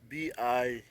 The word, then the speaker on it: Bikoro: Pronounced Bikoro.